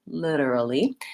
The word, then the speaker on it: literally: courses but for now just think of it as a light D literally and then um so my syllables are lidar and then this a is vowel schwa sounds like ah litora ly and then